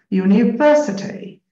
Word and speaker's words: university: five you're right now which syllable is getting the primary first I think University so it's V yeah perfect this syllable is getting the stress university university but in our country usually pronounce it university university is it